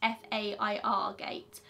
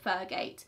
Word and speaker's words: Fergate: any form of identification She's clearly heard the name wrong and wrote it down as Fairgate instead of Fergate Jennifer has signed the form that she was filling in as Fergate, FER So there is a